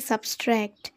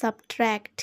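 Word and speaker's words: subtract: টি তো এই শব্দটাকে আমরা অনেকেই বলে থাকি সাবস্ট্রাক্ট সাবস্ট্রাক্ট তো এটা কিন্তু একটা ভুল উচ্চারণ আমরা এখানে ক্রস মার্ক করে দিচ্ছি কারণ এটা একটা ভুল উচ্চারণ আমরা সঠিক উচ্চারণটাই আজকে শিখবো সেটা হলো সাবট্রাক্ট কি বলবে সাবট্রাক্ট সাবট্রাক্ট মানে হলো বিয়োগ করা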